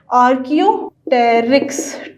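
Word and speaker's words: Archaeopteryx: एक स्केलेटन बहुत मशहूर आर्कियोटेरिक्स का है। आर्कियोटेरिक्स, पी यहाँ पे साइलेंट है।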